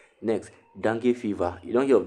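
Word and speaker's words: dengue: o p h e l e s next dangi fever you don't hear of dangi fever now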